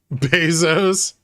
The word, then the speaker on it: Bezos: they probably don't care I think it's actually Bezos this is how it's pronounced yeah Bezos uh I'm not investing